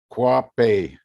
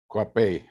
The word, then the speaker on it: Cauhape: pronounce your last name kwapei cuppy got it all right it's catalan not spanish not french catalan gotcha okay what how